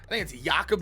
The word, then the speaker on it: Jakob: I think it's Jakob Johnson. I don't think it's pronounced Jacob, but yeah, that I didn't know they had a backup fullback.